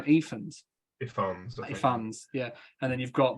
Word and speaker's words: Ifans: How do you pronounce his last name? Ifans, yeah.